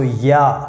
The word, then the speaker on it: ja: So here you can see J, we pronounce like Y, so ja.